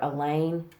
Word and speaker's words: Elaine: Elaine rhymes with pain.